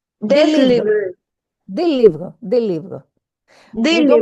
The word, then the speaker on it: livres: des livres, des livres. Des We don't livres. pronounce, we don't pronounce the final consonant, it's silent.